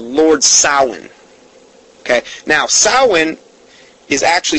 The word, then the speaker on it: Samhain: celebrates their God called Lord Solomon okay now saman is actually spelled s am h AI n sounds like Samhain but sound is actually the